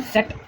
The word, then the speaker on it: Zett: Z को ही बोलते हैं सेट, सेट। ये आएगा TSE है, T साइलेंट है, सेट ये बोलने में है, और ये Z का आएगा, ठीक है। बोलने में सेट आएगा, लिखने में आएगा Z, ZETT।